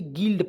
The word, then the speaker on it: guild: अब भाई यहाँ पे जी से तो ग होता है, ग लिखेंगे। यू का प्रयोग छोड़ेंगे, आई का प्रयोग छोटी की मात्रा, एल से आधा ल होता है, डी से ड, तो क्या पढ़ेंगे दोस्तों, GUILD, गिल्ड पढ़ते हैं क्या दोस्तों, गिल्ड पढ़ेंगे।